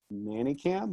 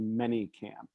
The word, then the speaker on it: ManyCam: We pronounce it Manicam, but it's actually Manycam.